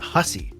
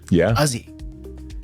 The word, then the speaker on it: Hussey: And anyway, that last name, the way they pronounce it in Newfoundland, is not Hussey. It's Uzzy.